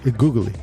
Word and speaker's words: Goguely: Googly. Just like the sound.